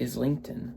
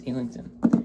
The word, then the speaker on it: Islington: Look, I would read it Islington, but I think it's Illington.